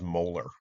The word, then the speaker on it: molar: And the unit is that big uppercase M, which we pronounce as molar, like a tooth, molar.